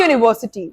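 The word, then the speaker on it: university: अ यूनिवर्सिटी, नाउ you must be wondering यूनिवर्सिटी यू से start हो रहा है, बट हमें इससे कोई मतलब नहीं है कि ये स्टार्ट किससे हो रहा है। All what we are concerned about is, हमें किस चीज से मतलब है कि जो हमारा फर्स्ट साउंड है, ये किस चीज का साउंड है, य का, राइट।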